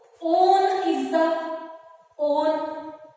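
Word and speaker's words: -one: On is the on. Don't pronounce it as one. It is on.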